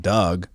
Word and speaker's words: Dug: And then the other guy, Buffkin, and then they've got a decent enough point guard, Doug, but it's spelled like D-U-G. Something weird, like Dig Dug.